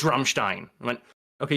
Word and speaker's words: Rammstein: It's not Ramstein, it's Rammstein. I went, okay, you pronounce it with a German accent, but you're saying the same word.